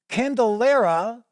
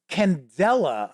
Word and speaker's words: Candela: has released the free quick start guide for candelera or no I'm sorry it's Candela I should say I've always been trying to